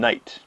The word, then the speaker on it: knight: spelling was the same another example of that is the K in Knight okay used to pronounce the K in a lot of